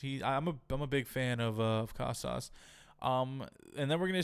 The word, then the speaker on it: Casas: Full year Tristan Casas is going to be sick.